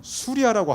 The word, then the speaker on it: 수리아: 지금의 시리아 지역, 그래서 지금의 시리아를 성경의 발음으로는 수리아라고 합니다. 그래서 안디옥은 안디옥인데 이것을 가리켜 수리아 안디옥이라고 그러고, 이 안디옥은 지금의 터키에 있습니다.